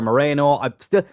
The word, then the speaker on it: Mourinho: signing in Midfield uh Mourinho has come in from Chelsea or Moreno it's spelled Mourinho but I've heard people call him Moreno so like we're probably